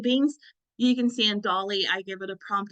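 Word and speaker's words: DALL-E: is um it's called Dolly so the best way to describe how to say it is if you've ever seen the Pixar film Wall-E it's the same kind of pronunciation but this is a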